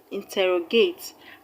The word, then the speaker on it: interrogate: The word interrogate, interrogate has 4 syllables, and the stress is going to be on the second syllable from front, but third syllable from the end of the word.